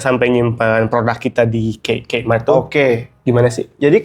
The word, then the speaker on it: Kmart: Buat orang Bandung mungkin nggak tahu Kmart, K3 Mart. K3 Mart. Aku aja baru tahu itu dibacanya Kmart.